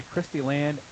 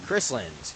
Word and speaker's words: Chrysland: Brought to us by Christy Land Engineering. Chrysland. Chris, I'm sorry about that. You're adding syllables here.